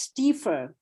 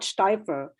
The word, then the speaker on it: Stiefel: I think it's Stiefel, not Steifer. I think there was a Swiss guy. It's IE, not EI.